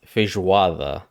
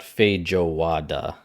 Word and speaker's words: feijoada: understand he's not Portuguese this is pronounced feijoather not feijo wada you don't break it up like that you would say it all fish water and uh I'm sure